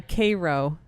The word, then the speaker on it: Cairo: of Middle Eastern Town names but it's like Koo syrup instead of Cairo Egypt Cairo c y Koo that's how it's pronounced yeah that's how it's pronounced um it's